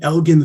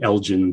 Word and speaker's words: Elgin: the stage and pronounced, it's the Elgin Theater, Eddie. It's the Elgin. And it's because he was pronouncing it the Elgin Theater.